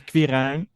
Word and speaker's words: Quirijn: My name is Quirijn. Quirijn? Yeah. And Quirijn is not a common name anywhere, not even in my country. So, everybody pronounces it wrong and I listen to whatever you call me.